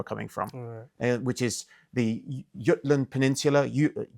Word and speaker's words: Jutland: from which is the Yutland Peninsula Jutland some pronounce or Yulan in Danish I say Yutland because that's what it should be called but um the Yutland